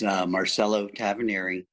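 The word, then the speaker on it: Marcello Tavernari: Would you state your name and spell it for the record, please? Yes, Marcelo Tavaneri, MarcelloTavernari.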